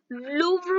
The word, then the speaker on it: Louvre: तो यहाँ पर देखिएगा, लूव्र म्यूजियम फ्रांस, लूव्र संग्रहालय जो कहाँ पर है, फ्रांस में है, लूव्र, प्रोनाउंसिएशन ध्यान में रखिएगा।